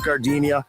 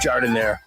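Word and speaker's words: giardiniera: Don't call it Gardinia, it's pronounced jardinire.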